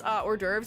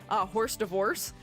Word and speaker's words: hors d'oeuvres: But like, I used to pronounce hors d'oeuvres as horse divorce, because that's initially how I pronounced it when I was a kid because I didn't know better.